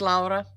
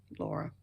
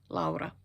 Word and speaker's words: Laura: Okay, before we get anywhere, if you are new here, my name is Laura, or Laura. You can say it either way. I'm from Finland, and that's how we pronounce Laura. Laura.